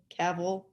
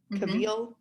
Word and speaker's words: Cavill: name great and uh henry cavill kabil it's cavil henry butthead cavill but